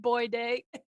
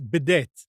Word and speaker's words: bidet: That's how it's pronounced, isn't it? Boy day. It's bidet.